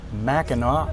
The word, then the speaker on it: Mackinac: city after lunch we ferry across to historic mackinac island it's a cool but busy weekend for